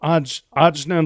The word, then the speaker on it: Ajna: Yes, we are Ajna Labs, and we are building the Ajna Protocol. It's AJNA. In retrospect, we would have named it something different. Well, now we know. So, Ajna Labs.